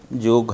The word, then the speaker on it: योग: योग, लेकिन दुखद घटना है अभी कि हमारे देश के लोग योग को योगा कहने लगे हैं।